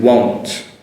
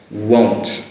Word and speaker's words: won't: Compared to won't, won't. That's that woo, same as that walk and work, won't. And the vowel sound is an O sound.